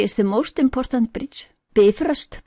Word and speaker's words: Bifröst: Bifröst, pronounced Bifröst, accent on the first syllable.